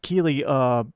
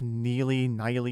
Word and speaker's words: Keighley: I think I somehow imagined an N into his last name and said it like Jeff Neely or something like that.